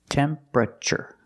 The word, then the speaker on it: temperature: Not temperature, not four syllables, but three. Temperature.